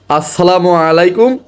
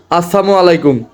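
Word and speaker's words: السلام عليكم: ভালো হবে না অর্থাৎ আমরা যখন শুদ্ধ উচ্চারণে সুন্দর করে বলবো আসসালামু আলাইকুম এর অর্থ হলো আপনার উপর শান্তি বর্ষিত হোক আর যদি আমি এইটা না বলে যদি বলি আসসালামু আলাইকুম তাহলে কি হলো এর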